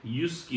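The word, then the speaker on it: JYSK: उसकी उसकी जिसकी स्पेलिंग है जे वाई एस के उसकी स्पेलिंग है यस्की उसको कहते हैं तो हमने यस्की से लिया था सबसे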